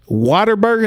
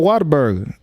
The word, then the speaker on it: Whataburger: I say it like Whataburger. Like what? Whataburger. Waterburger? No, Whataburger.